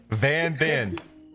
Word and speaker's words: Van Ben: I'm Van Ben. And as it is Van Ben.